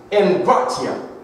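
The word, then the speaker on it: ἐγκράτεια: If you look in the Greek and find the Greek definition of that word temperance, it's pronounced engratia, and it is a combination of two Greek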